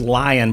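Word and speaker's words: LAION: say it was called It's pronounced lion but it's l-a-i-o-n dot AI I can't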